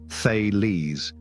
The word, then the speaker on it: Thales: thales who lived around 624 to 546 BC pronounced thees among his many accomplishments thees was the first